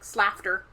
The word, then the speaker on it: Slaughter: It's spelled like slafter. It's Slafter. it is the word slaughter.